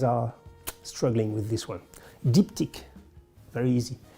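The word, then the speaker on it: Diptyque: struggling with this one diptych very easy diptych means two things deep tick in France we have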